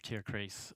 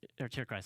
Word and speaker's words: Tierkreis: I conducted an interview with like the producer of Tierkreis, or Tierkreis actually. That's the correct German pronunciation.